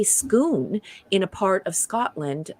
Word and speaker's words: Scone: think it was really cool that they say schoon in a part of scotland uh where um